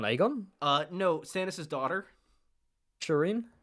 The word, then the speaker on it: Shireen: Shireen. You said Shyne. I thought that was a British thing.